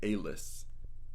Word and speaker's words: Aelis: I'm going to be pronouncing it Aelis. Aelis, spelled A-E-L-I-S, is a recent graduate of the Lyceum, I want to say is how to pronounce it.